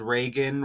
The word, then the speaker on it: Reagan: Richard West who mentioned Reagan rhymes with Megan like Megan good again who was trending at the same time a lady named good was shot by Ice in Minnesota.